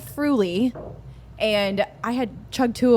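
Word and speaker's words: Früli: And I I think it's pronounced truly. No, it's Fru.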